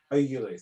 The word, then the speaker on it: Oulu: Oulu, thank you.